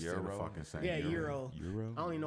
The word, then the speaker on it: gyros: Is it euro? Yeah, it's pronounced euro.